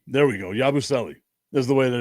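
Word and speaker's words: Yabusele: Yabuselli. There we go. Yabuselli is the way that it's pronounced. Yabuselli.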